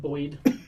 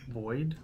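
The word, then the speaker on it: boid: Boyd. Boyd? Boyd. How do you spell that?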